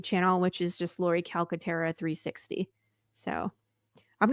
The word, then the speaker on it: Calcaterra: head oh I I I was saying caletera that's wrong that's okay Cal I'm